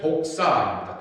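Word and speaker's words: δόξα: 영광이라고 하는 시라버 단어가 뭐냐면은 해필이면 독사입니다. 독사. 그 말 표현이 그런 거지 꼭 이렇게 뱀에게 독사가 아니라 해필이면 시라버 단어 발음이 독사입니다.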